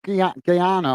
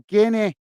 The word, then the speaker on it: Guinea: now for is it is it is it g Gana I'm not I'm not sure how you say it apologies if I'm saying it wrong guys all right Guinea so it's Guinea I'm getting confused with G so it's Guinea it's Guinea guys my apologies so Guinea